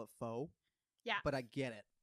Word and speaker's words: pho: The pho drives me nuts because I've been to Vietnam and people here call it pho.